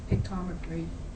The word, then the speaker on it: Pictometry: And Stan, the pictometry, is that how you say it, pictometry?